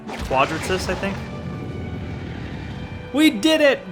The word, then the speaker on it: Quadratus: empty stomach right now it should be in the wiki like quadratus yeah quadratus quadratus okay i was pronouncing it i was i had a feeling i wasn't saying it properly you know i know